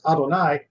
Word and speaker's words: Adonai: we are saying here is that y we pronounce as Adonai that is our God not an Egyptian God